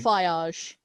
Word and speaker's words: Feige: Do you reckon that, is it Kevin Feige, whatever you pronounce his name? Feige.